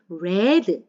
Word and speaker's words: read: 읽었다고 하고 싶을 때는 read 발음이 바뀌고요 단 발음만 바뀌지 스펠링은 철자는 똑같아요 she read a book